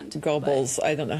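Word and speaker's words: Goebbels: He's brand Gobles. I don't know how to say the name. Gerbles.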